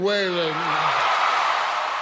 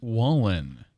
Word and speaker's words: Wallen: for Entertainer of the Year goes to Morgan whan all right here's the only problem uh with that that's Jeff Bridges and the CMA award for Entertainer of the Year goes to Morgan whan correct pronunciation is Morgan Wallen uh yeah well